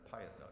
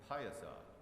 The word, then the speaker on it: Piasa: Flight of the Piasa, and that's how you pronounce it, Piasa. Say it with me, Piasa.